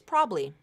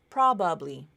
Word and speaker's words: probably: pronunciation there um so the first one you'll see is probably vowel Syncopy probably two syllables you can also pronounce it as probably probably three syllables it just depends on